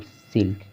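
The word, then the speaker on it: silk: हमने बताया था इससे पहले नियम में, रूल में बताया था कि के से पहले अगर यल होगा तो यल साइलेंट होगा, यल का उच्चारण नहीं करना है, लेकिन यहाँ पर उच्चारण हो रहा है।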